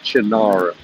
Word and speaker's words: Cynar: By the way, I just finished a glass of Chinar spritz. If you guys haven't had Chinar, it's spelled with a C, Cynar.